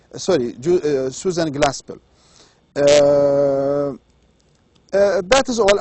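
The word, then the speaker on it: Glaspell: I think it's one act uh play by Susan Glaspill's sorry Susan Glaspel.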